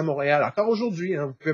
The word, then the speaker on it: Montréal: Et le roi, en vieux français, se prononce Réal. Le mont Réal, le mont du roi. Et ensemble, aujourd'hui, ça fait Montréal.